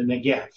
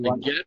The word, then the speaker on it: Negev: Okay, the zeroa, but is it negev or negev? Negev. Well, negev or negev, it doesn't matter. The modern Hebrew, you pronounces it as. So I tend to use the modern pronunciation of.